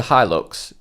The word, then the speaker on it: Hilux: this one is the toyota hilux or he looks depending on you want to pronounce yeah so the model